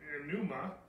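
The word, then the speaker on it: πνεῦμα: And then the Greek is pneuma. And I might be pronouncing that wrong, but it means current of air, breath, or breeze.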